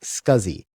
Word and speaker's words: SCSI: as a small computer systems interface which is pronounced scuzzy SCSI now scuzi is an example of a legacy parallel bus